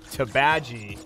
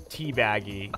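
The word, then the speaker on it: Teebagy: So, it's Tabaji, which is spelled like tea bag with a Y on it. Well, no, it's T-E-E-B-A-G and then Y. So everyone called her cat Teabaggy, and she said, no, it's Tabaji.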